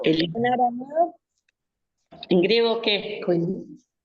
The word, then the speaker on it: koiné: koiné. Koiné, sí, con acento en la E.